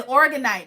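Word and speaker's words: Orgonite: The Organite.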